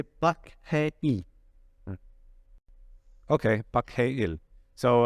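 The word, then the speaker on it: Park Hae-il: You don't pronounce the R, Franco, when you say Park They Hae don't. Il, Park Hae Il.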